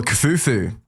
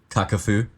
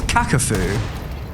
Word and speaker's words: Kakafu: If you're Kafufu, Kakafu. is that how you pronounce it? Yes. Oh. But we can go with Kafufu if you like, it's quite cute. Not sure how he'd feel about that. So you say it's Kakafu? Yeah, go have a look on HLTV, man.